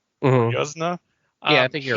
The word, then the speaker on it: Yuzna: And then when the director, Brian, I think it's pronounced Yuzna, or Mhm. Yuzna.